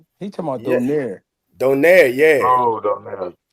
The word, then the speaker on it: Donaire: I'll be pronouncing that Oh, shit you wrong. who? talking about? Who? You talking about Rachel Donner? He talking about Yeah, Donaire.